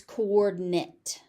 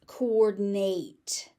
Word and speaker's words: coordinate: So as a noun, it's coordinate. As a verb, it's coordinate. You're going to hear coordinate more frequently because it is more frequently used as a verb, but you may also hear coordinate.